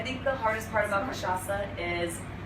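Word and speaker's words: cachaça: it so for all of you out there kashasa say it with me great um and this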